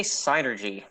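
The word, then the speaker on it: Psynergy: I think the P is silent.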